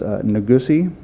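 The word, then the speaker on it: Nigussie: best to pronounce the name and I can spell it for you as well first name is nagusi n-i-g-u-s-s-i-e last name is bolti b-u-l-t-i date of birth is 821 of 59.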